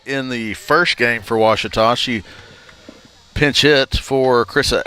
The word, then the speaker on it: Ouachita: I've heard people say Ouachita. Wichita. Achita. Ouachita. Is it pronounced Ouachita? Searching for Ouachita Baptist University. Back in Texas, everybody pronounces it Wichita, but really, it's Ouachita.